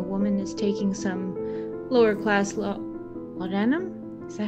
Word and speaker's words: laudanum: She notices that while the gentleman is smoking a cigar and the woman is taking some lower-class laudanum? Is that how you pronounce that?